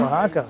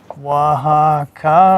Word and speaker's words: Oaxaca: Online, Carmen has spelled it phonetically JUA-HA-KA, like Juan, like you say Juan. But then somebody might think it's a hard J. Oaxaca. Yeah. W-A. I would have done W, yeah. So you W-A-H.